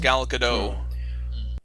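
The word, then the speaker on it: Gal Gadot: gal get god oh I have heard it pronounced gal Godot yeah okay so you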